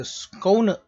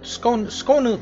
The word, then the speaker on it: Skåne: So this is the, after I Google it, it's like the Skåne. Skåne, yes. This ship is called the Skåne. Alright, so I'm going to title it the Skåne, the torpedo spammer.